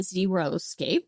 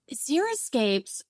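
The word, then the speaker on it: xeriscape: water saving strategies and some people mispronounce it and they call it zeroscape and it's not zero because there's plants in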